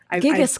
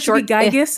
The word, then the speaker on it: gigas: though I did finally Google how to pronounce it's gigas clam gigas clam I wanted gigas I really did it's gigas gigas is great it's it's